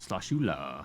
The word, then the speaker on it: Sloshula: And if you're just listening, sound it out. I promise you. It's how you think it's spelled. Sloshula. Sloshula.